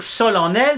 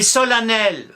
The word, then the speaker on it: solennel: un e sauf qu'après on ne va plus dire sol en elle mais sol nelle la prononciation va évoluer mais on va garder le E on s'y était habitué